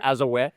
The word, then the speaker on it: Azure: Microsoft Azure.